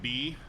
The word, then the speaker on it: Bay: That sounds like B, but it's spelled Bay.